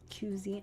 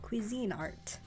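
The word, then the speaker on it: Cuisinart: the Kine art one which I always thought it was cuzy I I don't know I don't know how I thought it pronounced but I I I watched videos on how to use the ice cream maker and they said Cuisine Art very fancy and it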